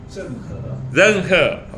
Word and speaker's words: Zheng He: How you mention, how you pronounce his name? Zheng He.